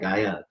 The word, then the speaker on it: Gaia: It was like with the Spanish SL uh accent, Gia Gang instead of Gaia. Um, that's kind of cool because it's how they pronounce it down there.